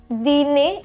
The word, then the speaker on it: dîner: Dîner. Dîner is the pronunciation.